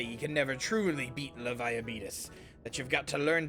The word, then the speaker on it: Leviathan: Yeah, that's he's saying it wrong. It's Leviathan.